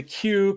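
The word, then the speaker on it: queue: labeled being from the Q Continuum need a rim shot for that the word q is ironic it's just a q the letter Q with a bunch of silent letters waiting in a line I always like the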